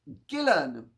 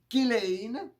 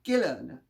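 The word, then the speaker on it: Ghislaine: s l a i n e it is pronounced gillen like guillermo it's not jesus and it's not gillane which would be the french pronunciation it is gillen that's how the name is pronounced in return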